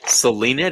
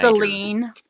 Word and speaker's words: Seline: Selena, do people mess up your name? What do you mean? Like call you Serena or Selena? Seline. Seline. Like Seline Dion.